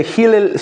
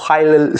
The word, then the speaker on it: Hillel: Bueno, cuando pasa lo que pasa con Hillel Slovak o Hel Slovak, como se pronuncien, yo lo escuché Hel o Hillel, para mí es Hillel, Slovak.